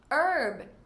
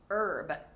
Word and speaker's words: herb: Herb, from the French, so we do not pronounce the H. Herb.